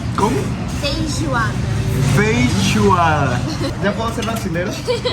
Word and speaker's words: feijoada: ¿Cómo se pronuncia? Feijoada. ¿Cómo? Feijoada.